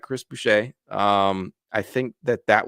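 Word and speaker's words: Boucher: he gets bought out I know I butchered his last name uh no it's bue you're you got it correct Chris bue um I think that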